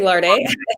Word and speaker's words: Larde: You can say Larde.